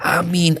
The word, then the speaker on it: Aamiin: ini yang benar tafadol ada beberapa cara baca Amin yang pertama para ulama mengatakan yang paling fasih adalah ee dengan memanjangkan dan meringankan bacaan minim tib Ya ini yang